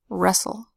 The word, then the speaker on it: wrestle: So if you see S-T-L-E, the T is silent. So in this syllable, the first syllable we pronounce as cas, and the second syllable we make the T silent and we just say ul. Cas, ul, castle. Whis, ul, whistle. Res, ul, wrestle.